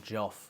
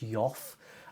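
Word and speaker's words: Geoff: name correctly aren't I it's Jeff is it's not Joff or something like that he's kind of spelled GE e o f f is it um so do let me know if I'm just like Jeff Jeff Jeff and you're like actually it's it's yof um let me know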